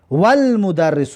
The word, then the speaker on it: والمدرس: مثلا المدرس میگیم، لیکن واو که اومد الف لام تلفظ نمیشود. والمدرس میگیم، الف تلفظ نمیکنیم، لام تلفظ میکنیم.